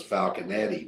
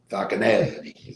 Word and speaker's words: Falconetti: And the evil character on there, his name was Falcon Eddy, but spelled like an Italian name, Falconetti, Falcon Eddy.